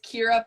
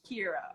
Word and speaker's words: Kira: if I ever butchered it's Kira pipe Ling Kira okay here I was making two syllables okay so first huff